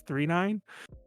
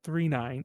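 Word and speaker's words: Galaxy Express 999: feels wrong so yeah you pronounce it three nine even though it's three nines but it's 999.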